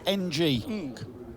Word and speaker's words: Ng: His surname is NG. Ng.